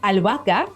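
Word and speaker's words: albahaca: h at the beginning words like a now or alaka basil they have a silent h right in the middle Now While most of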